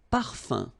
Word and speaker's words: parfum: Un parfum. So remember, even if you've got this UM like that, phonetically it's exactly the same thing as if you would have UN.